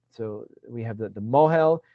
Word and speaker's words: mohel: and so it's then we have the right, so we have the mohel, right, or in the Ashkenazi yeshivish pronunciation moil, even, right, but it's the Hebrew is mohel, right.